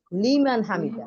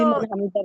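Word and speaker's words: لمن حمده: সামিয়াল্লাহু লিমান হামিদা, লিমান তাই না? হামিদা ওই যে আইনটাই তো হলিমান হামিদা বললে হবে উচ্চারণ না।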